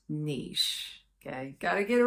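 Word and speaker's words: Niš: to their third largest city which is called Niche yes now it's spelled n in English it's not pronounced n it's pronounced Niche okay got to get it right serbs get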